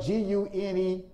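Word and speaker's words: γυνή: here it is the greek word grenade which is spelled g-u-n-e g-u-n-e gune and that word means wife it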